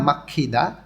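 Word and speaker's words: 막히다: বাড়ি ফেরার সময় দুইটা একসাথে বলতেছে এখানে ছাগা মাখিদা ছাগা অর্থ গাড়ি গিয়ক বাচ্চিমের পরে যখন হিউত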